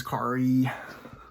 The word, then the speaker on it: Kaare: hey this is kari rhymes with atari andrews um i got